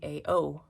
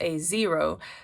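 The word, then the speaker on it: A0: A2 A3 A4 A5 so why was I saying AO that didn't make sense it's a zero so ever since then I've said a zero which I think think is the correct way to say it and I just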